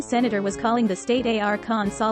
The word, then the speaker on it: Arkansas: outsells every other gin brand globally the pronunciation of arkansas is defined by the state legislature due to